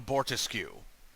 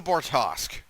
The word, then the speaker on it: Bortas: like so like she constantly calls it the borusu the Boris The Good Ship of borcu you know like it's the bortas that's how it's pronounced bortos boros it's not